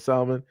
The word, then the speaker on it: salmon: always pronounce the L of salmon. If they didn't want it pronounced that way, they should have taken the L out.